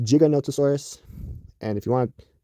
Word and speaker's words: Giganotosaurus: live both those statements are wrong it is pronounced giganotosaurus and if you want to test me to